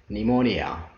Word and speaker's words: pneumonia: now silent letter p p is not pronounced at the beginning of many words using the combination ps pt and pn let's see them one